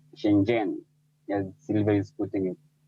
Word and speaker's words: Shenzhen: It's it's Shenzhen for a Kenyan, Yes. but it's Shenzhen for a Chinese person. Shenzhen.